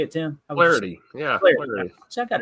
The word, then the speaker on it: Flaherty: Flaherty. Yeah. Flaherty. See, I got it right. See, I thought I was being too Southern there. Flaherty. One syllable.